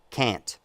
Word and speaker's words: can't: can't, C-A-N, apostrophe T, but you don't pronounce the N, right? Cat, can't. So all I hear is cat and can't. Right? But are you saying that you guys, those are synonymous in America? They're not synonymous. They're different words, but where you pronounce a little bit of an N, in my dialect, it has evolved far enough that the N is no longer pronounced, and the only difference